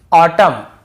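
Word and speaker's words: autumn: करना है एन को नहीं पढ़ना है जैसे ऑटम कॉलम डैम और हाइम तो यहां पे हमें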